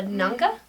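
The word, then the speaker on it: nganga: Many of his victim body parts were cooked in a large pot called a nanga. I think that's how you say it. It's N-G-A-N-G-A. Nanga.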